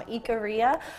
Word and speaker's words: Ikaria: mine gave me from Ikaria, which is, I believe, the correct pronunciation, and that is an